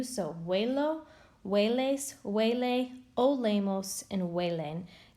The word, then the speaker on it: huelo: So it is huelo, you pronounce it kind of like with a W, so huelo, hueles, huele, olemos, and huelen.